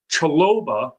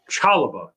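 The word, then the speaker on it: Chalobah: Chaloba is on. Chalaba. That's how you say it.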